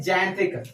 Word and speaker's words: xanthic: उसके बाद क्या है, इधर ध्यान दो, XANTHIC, इसको क्या पढ़ेंगे, XANTHIC, इसको पढ़ते हैं जैंत्रिक। तो जो एक्स का यहाँ पे जा आ रहा है, प्रोनाउंसिएशन आ रहा है, इसको हम क्या पढ़ेंगे,